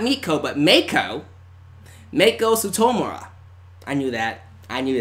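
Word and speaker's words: Meiko Satomura: 38 years old Oh Mako citta Satomura so Mako Satomura that's how you say her name and she's 38 years old so not meet Koba Mako Mako Satomura I knew that I knew that but she's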